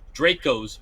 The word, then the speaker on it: Draco: Yeah, I mean, I have seen some quote unquote gangsters with Dracos or Draco, like it should be pronounced, in their pants, but you can't hide it.